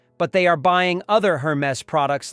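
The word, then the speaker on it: Hermès: Number three is Hermes, pronounced Hermes.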